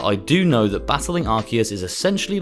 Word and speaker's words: Arceus: Finally, we're looking at the main legendary of the game and the god of all Pokemon, Arceus, or Arceus for all those people who don't like to pronounce it correctly.